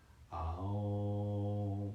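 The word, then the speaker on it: ॐ: a nice, soft, gentle ohm. So it'll be like, Aum will be the syllables like A-U-M.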